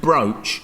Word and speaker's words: broch: Is it pronounced broach or broch? Broch. Broch.